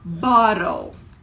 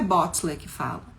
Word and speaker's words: bottle: língua então por exemplo se eu falo é garrafa borol se escreve com ttle Bottle mas não é Bots britânico Então a